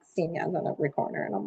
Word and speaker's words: Xinia: And this girl was like, Senior? And I was like, yeah. I was like, wow, you got the pronunciation right.